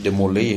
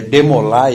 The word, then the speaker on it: DeMolay: demol ou demoi aqui a gente chama muito demoi aqui no Brasil porque usa o inglês mas na verdade DeMolay é francês e é DeMolay é pronúncia com correta viu Alguns irmãos maçom